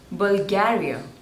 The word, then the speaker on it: Bulgaria: Brazil next one is Bulgaria so there are three syllables and you have to stress on the second one Bulgaria Bulgaria Bulgaria Bulgaria